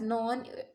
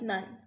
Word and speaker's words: none: or a know because to make this rhyme scheme we are supposed to pronounce it as none and not like none is it therefore the